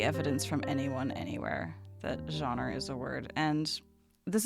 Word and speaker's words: genre: Because I say it genre, right? There's John, like the name John, and then Ra, like She-Ra. And it's two very distinct syllables, and that's not how you're saying it.